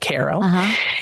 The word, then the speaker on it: Cairo: down to like 27 or something down to Caro Illinois which is spelled like Cairo but they pronounce it Koh and then when you get to Koo there's